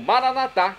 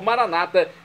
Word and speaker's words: Maranata: E agora eu clamo Maranatá, como dizemos nós católicos, ou Maranata, como dizem nossos irmãos separados, os evangélicos ou protestantes. Não importa a pronúncia, o significado é o mesmo.